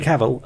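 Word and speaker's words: Cavill: of Steel starring Henry caval I can't say his name Henry caval there we go I'm saying it right now Henry caval um when I went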